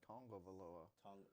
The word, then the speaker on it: Tagovailoa: It's Tongavaloa. Yeah, he Tongavaloa.